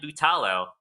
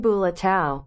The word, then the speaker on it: Bulatao: on these people is Brian butalo but Brian Brian bulatao sorry I should have test pronounced that before saying it you